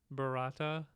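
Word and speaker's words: Barada: So it's Klaatu, Barata, Nikto.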